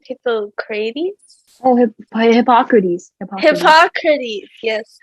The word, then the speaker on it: Hippocrates: Hippocrates?